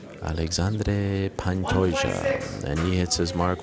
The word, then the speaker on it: Alexandre Pantoja: Thank you very much to my colleague Guilherme Cruz for that pronunciation. Alexandre Pantoja, and he hits his mark, 126 for the Cannibal.